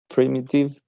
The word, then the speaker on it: primitive: it is right here the pronunciation primitive uh it has three syllables and the stress is on the primitive pre native in the